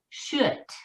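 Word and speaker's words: kött: give you a hint the word in swedish for meat is should okay and it really is spelled k-o-t-t etc and for ball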